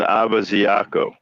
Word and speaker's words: Ibeziako: up i went to find out how to pronounce his name yeah ron abaziaco he probably spelled that on accident oh phoenix